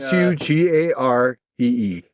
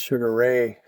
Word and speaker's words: Sugaree: Cuz I was saying it wrong. I thought it was Sugar Ray.